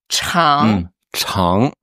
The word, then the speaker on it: 肠: Après le caractère intestin qui se prononce. Chan c h a n g.